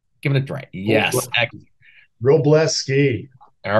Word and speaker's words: Wroblewski: the pictures if you follow the pictures it's pronounced roblesky can everybody say that give it a drink yes Robles ski all right excellent so again this is a